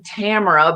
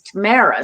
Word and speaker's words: Tamara: thanks sammy um well i pronounce my name tamara but my canadian pronunciation is tamara so i i basically answer to anything that starts with a t so i'm very